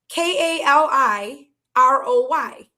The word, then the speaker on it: Kaliroy: It would have It would have been K A L I R O Y. Kaliroy. Okay. Kaliroy. Yeah. Kaliroy. Yeah. You just have to roll the R. That's all. But like Yeah. So Kaliroy would have been that's my name.